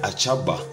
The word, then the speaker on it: Ashaba: debemos saber es que a salva se pronuncia a chapa es un lugar geográfico